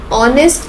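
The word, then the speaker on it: honest: ऑनेस्ट is starting from H even though but द एच is silent.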